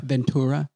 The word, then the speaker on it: Ventura: this year ventura yeah would you pronounce as ventura and shira ventura i mean ventura how ventura ventura ventura yeah like tuna yes yes we've done